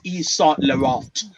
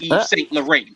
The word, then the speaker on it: Yves Saint Laurent: It's Yves Saint Laurent, not Yves Saint Laurent, bitch.